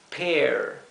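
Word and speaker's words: pear: igualito pera es Entonces se pronunciaría como si fuera una doble e en español o una e larga e pair pair y la r final traten de pronunciarla como en inglés ciruela se dice plum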